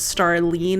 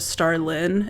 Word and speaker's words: Starlyn: People sometimes pronounce my name as Starlene instead of Starlyn.